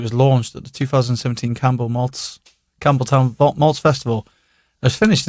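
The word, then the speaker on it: Campbeltown: Nick, is that how we pronounce that? Campbelltown, yeah. And it has a P in it.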